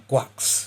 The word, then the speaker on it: GQuuuuuuX: Gundam, Machu and her mobile suit, the Gundam Guax. Yes, I know that's literally how you pronounce it.